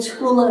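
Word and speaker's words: Thule: the men were in the Tula Society and yes that's how you say it they actually they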